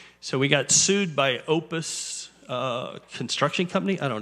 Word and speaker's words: Popus: front of it it's p o p us Management Group Inc how do you pronounce that anyone know p o p u s the p is silent Opus Management Group Inc